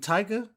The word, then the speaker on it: Taika: Bro, pronounce it. Shouts out to my man, bro. Takia, like I can hear it. I mean, Taika Waititi.